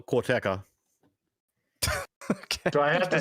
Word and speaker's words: Karateka: Is it Karateka? How do you pronounce that, Sean? Well, Corteca.